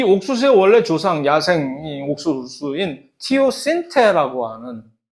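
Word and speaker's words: teosinte: 실제 사진이 있으면 이 옥수수의 원래 조상, 야생 옥수수인 티오신테라고 발음을 합니다. 책에는 티오신트라고 되어 있으나 어쨌든 원래 제대로 된 발음은 티오신테라고 하는 요것인데 이거는 이게 확실히 얘가 옥수수의 조상이다라고 확인해 주기 전에는 아무도 이걸 모르는 거지.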